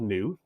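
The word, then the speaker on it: Nyoo: agency it's actually called new but it's in why oh oh that's the phonetic pronunciation of the word new and I chose that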